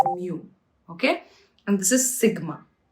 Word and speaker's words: mu: This here is mu. It's pronounced as mu.